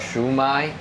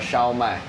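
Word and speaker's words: 烧卖: It's called Shu Mai, but it's in Mandarin it's called Xiao Mai.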